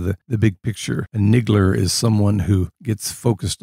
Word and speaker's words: Niggle: and this story is called leaf by niggle which rhymes with giggle but david maybe you